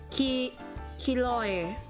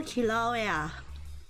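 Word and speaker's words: Kīlauea: she resides to this day in the volcano ki hiloy oh my god how to pronounce it oh my god i need i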